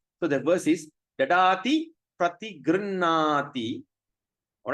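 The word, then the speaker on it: प्रतिगृह्णाति: When you see the R at the dot, there's a dot at the bottom. We're going to pronounce as rrr, like vroom, rrr, rrr. So that's a sound.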